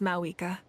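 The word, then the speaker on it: Mavuika: This time, just as Mawika. Why? Is it something about Spanish or what? But they pronounce her name not with like a V, but like a W sound.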